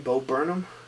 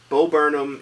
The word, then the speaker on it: Bo Burnham: Bo Burnham. Bo Burnham Inside on Netflix special.